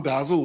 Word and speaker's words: Basil: So I'm Basil. As I explained to special to us, Ed, last night, it's pronounced like razzle dazzle.